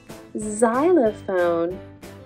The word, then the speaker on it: xylophone: it must be xylophone xylophone is spelled with an X that says Z xylophone usually X says like box this is a box open the box close the box box but today X Says Z next we have the